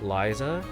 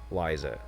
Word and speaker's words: Ryza: So R eventually gets, well, it does often sound like that, Liza.